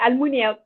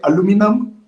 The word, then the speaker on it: aluminium: Us in Ethiopia, we say aluminium. But I think Americans usually say aluminum. And then there's neum or something. Yeah. British people always say aluminium.